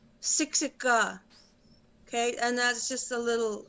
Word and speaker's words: Siksika: siksika it's spelled s-i-k-s-i-k-a the the k sounds like a g sixa and that's just a